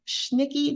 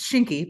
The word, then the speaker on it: Schnicke: Megan Schnicke, did I say it right, Megan? It's Shinky, but that's okay. The way you've spelled it is how you would pronounce that.